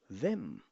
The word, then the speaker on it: wem: Aber wem, pronounce it me, wem.